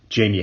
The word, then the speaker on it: Jaime: Graham's Democratic opponent will almost assuredly be former South Carolina Party Chair Jamie Harrison. That's spelled Jaime, in case you want to donate.